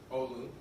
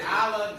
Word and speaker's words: Olu: Olu. Did I say it right? I said it right, yes.